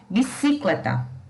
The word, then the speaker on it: bicicleta: Se a sílaba tônica fosse a antepenúltima, ou seja, o CI, a pronúncia dessa palavra teria que ser bicicleta. E nós também não pronunciamos bicicleta. Portanto, a sílaba tônica vai ser o cle. Nós pronunciamos bicicleta.